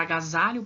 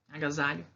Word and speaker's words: agasalho: A palavra agasalho, por exemplo, não tem acento, mas ela é uma paroxítona. A sílaba mais forte dela é o sa, né? O za, agasalho.